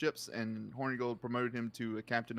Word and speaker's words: Hornigold: You said Hoary Gold. It's Hornigold. I don't know how it to was pronounce it was You horny said gold.